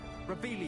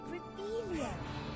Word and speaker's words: Revelio: Rebellion. You're saying it wrong. Ugh, Rebellion.